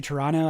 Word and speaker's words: Toronto: Oh, you're from Toronto? Nice. You're even pronouncing it right in the spelling. Yeah, we don't pronounce all the T's.